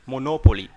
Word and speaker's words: monopoly: That's the reason why I say monopoly. Why I say monopoly? Because the stress is on N. You have to insist on this letter.